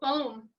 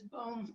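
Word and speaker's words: Böhm: and a gentleman named theopol baum or perhaps his boom bam i think that's the german pronunciation is the one that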